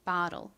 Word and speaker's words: bottle: 보틀, 미국식 발음은 bottle.